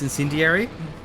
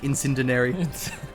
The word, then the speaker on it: incendiary: I was I was just thinking about when whenever Nathan Phillips tries to pronounce incendiary, he always says like incendinary.